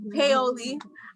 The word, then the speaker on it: Paoli: So I'm going to call on Miss Paoli. I said it right this time, right? No, Paoli.